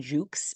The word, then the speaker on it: Jucksch: so bill or his full name William John Jukes is how it's pronounced William John Jukes was born in 1925 in McAllen Texas he